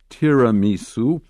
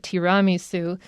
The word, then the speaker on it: tiramisu: in the dictionary and the dictionary says that it should be pronounced tiramisu i grew up with all the people around me calling it tiramisu and then you've actually pronounced it like three different ways in this article i'm